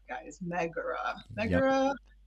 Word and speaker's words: Megara: It's Megara, guys. Megara.